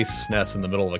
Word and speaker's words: SNES: SNES is pronounced SNES. One word rhymes with less. I'm not going to be mad at you if you say like SNES or if you spell